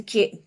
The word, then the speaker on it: queue: we say q.q okay that's cute like the letter Q so Q Q no